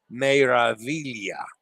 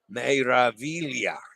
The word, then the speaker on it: Meraviglia: Meraviglia. Meraviglia. Meraviglia. I know I'm supposed to roll the R.